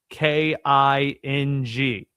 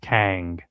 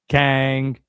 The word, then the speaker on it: King: I live 45 minutes away from a town spelled K I N G. Nobody there calls it king. It's pronounced Kang, right? Got to have the accent in there. Kang.